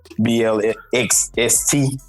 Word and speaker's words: Blxst: We ain't gonna try to pronounce that no more. We're just gonna say what the letters say. Blxst.